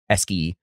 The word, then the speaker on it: ESCI: I know CI makes us sound in English, but you know what? I like the hard C, ESCII. It makes it easy to say ESCII, right?